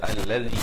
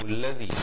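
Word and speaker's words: الَّذِي: Baca alladhi, jangan baca il ataupun ulladhi.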